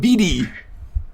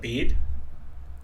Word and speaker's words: Bede: Nobody can pronounce my character's name. BD. What, Bead? Yes.